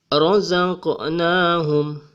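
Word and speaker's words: رزقناهم: Karena huruf qof ini berada di tengah ayat, kita tidak bisa membacanya sebagai razq. Nahum. Namun suara bergetar di sini, dan getarannya tidak terlalu besar. Dibaca razaqnahum. Kita juga tidak bisa membacanya sebagai razaqnahum. Jadi getarannya kecil. Razaqnahum.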